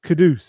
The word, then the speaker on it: Kudus: It's Kadoose, isn't it? That's how he pronounces it.